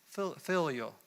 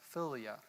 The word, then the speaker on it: philia: Second part of it is phileo. It's a Greek word that might be mispronounced, philia.